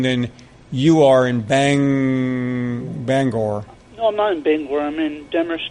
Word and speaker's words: Bangor: you are in bang Bangor come on big women Denver's Tata means to me a long time learned I pronounce that I didn't realize it was bang or I'm in Denver scud